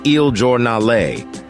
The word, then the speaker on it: Il Giornale: first coffee shop opened it was called IL giornale pronounced IL giornale which means daily in Italian Howard and his friends